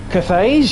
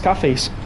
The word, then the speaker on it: Cathays: Cathays, you say? Oh, you saw I was thinking it was cafes.